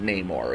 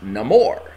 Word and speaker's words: Namor: name for the movie Namor is no longer pronounced Neymar it's Namor and when I looked up